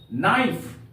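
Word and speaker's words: knife: एन आई एफ ई, नाइफ। नाइफ का अर्थ होता है चाकू। यहां भी देखते हैं एन के पहले के का प्रयोग किया गया है, इसलिए यहां पर के साइलेंट है।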